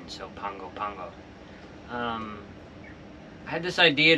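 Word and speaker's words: Pago Pago: p-a-g-o-p-a-g-o but I guess in Samoan the G's are pronounced with an N so Pongo Pongo um I had this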